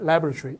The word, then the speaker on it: laboratory: 강세 앞에 있는 laboratory. 미국식 발음이고요. 영국 가면 또 발음이 이상하게도 laboratory가 됩니다.